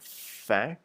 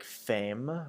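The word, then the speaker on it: faim: Um, and this one, make sure that you're pronouncing fe f a i m, like fe. Um, and not like fame or fam because fam is the word for woman. Um, so just careful with that one. Um, so it should be pronounced fe. So sort of like an f a y sort of sound.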